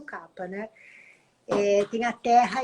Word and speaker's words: kapha: Já o dosha kapha, ou kapha, as pessoas falam mais kapha, mas a pronúncia correta seria o kapha, né?